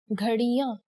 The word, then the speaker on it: ghadiyan: For example, clocks, ghadiyan. Here the chandrabindu can be seen above the last vowel a.